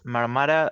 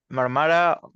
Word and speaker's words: Marmara: My name is Marmara, or you can pronounce it. I'm used to the A being pronounced A for Spanish, but if another pronunciation is easier, no problem. But Marmara, Mar or Mara for friends.